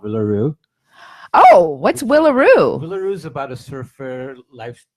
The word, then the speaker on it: Willaroo: Oh, what's Willaroo? Willaroo is about a surfer lifestyle. What's it? How do you spell it? WILLA, like Will. A. Rue, R-U-E, like the road. Willaroo.